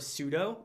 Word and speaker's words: sudo: related command called su, and people pronounce it different ways. I say su and sudo. A lot of people say sudo, but it's just a matter of preference.